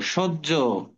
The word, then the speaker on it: সহ্য: সাথে শুধু এখন পড়ো সহ্য সহ্য আচ্ছা তাহলে এখানে একটু লিখে দেই দেখো সজ্য তার মানে আগে বর্গীয় জ সহ্য তারপরে শেষে কি উচ্চারণ হবে ঝো ঠিক আছে ঝো স্যার